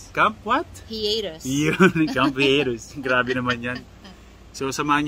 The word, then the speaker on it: Hiatus: Actually, ang pronunciation talaga niyan is hiatus. Oh tama. Hiatus. Pero diba? Since na Pinoy tayo, hiatus na yan.